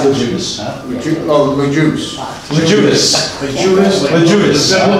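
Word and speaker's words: Loguidice: Logidicy, or? Lejudas. Huh? Lejudas. It's pronounced Lejudas.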